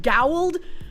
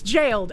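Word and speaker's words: gaoled: I feel like it absolutely should be pronounced gowled, but it's jailed.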